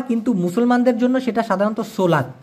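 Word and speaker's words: solat: কিন্তু মুসলমানদের জন্য সেটা সাধারণত সোলাত। এসও এল এটি উচ্চারণ হবে সলাত।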